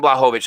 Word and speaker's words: Blachowicz: The main event next week, the light heavyweight champion, Jan Blachowicz.